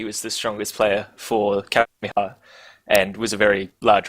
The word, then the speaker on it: Kapehameha: Kapehameha. I'm not even going to say that name. I'm just going to stop. You said it right. Did I? Okay. Kapehameha.